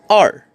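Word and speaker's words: 二: e e next number we have number two r r r next we have number three sun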